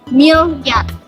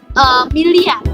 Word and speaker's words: miliar: Nah, pada video tersebut terdapat kesalahan fonetik, yaitu perubahan fonem I menjadi fonem Y, sehingga pelafalan miliar menjadi milyar. Nah, bentuk kata baku itu merupakan miliar, atau jelas tertulis dalam